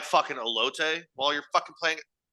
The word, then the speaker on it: elote: You could have like fucking elote while you're fucking playing it. Which I know I say that word whiter than anybody else. It's pronounced elote. I can't not say it super white.